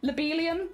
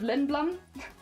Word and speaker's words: Lindblum: is she talking about libelium instead of lindblum you know all that